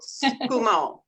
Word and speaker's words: Tsukumo: I've heard mostly is, you usually have your vowel sounds even, but I also was, people were pronouncing it skumo, so kind of blending that. Okay. So, probably just talking faster. Sure. So skumo is how I've been pronouncing it.